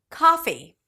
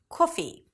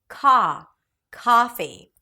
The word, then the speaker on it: coffee: naat, and not năət, kaa-fee, and not ʻkɔːfi, kaa-fee, you want to relax your jaw, relax your lips, open your mouth, and pronounce it as a back open sound.